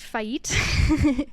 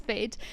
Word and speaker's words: FAET: T um and a lot of people were pronounce it fate when it's fade but F sounds really cool so I'm not